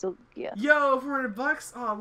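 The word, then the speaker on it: Sylgja: Silja.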